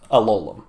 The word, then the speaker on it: Alolan: I'm very excited about Alolan, which is the correct way to say its name.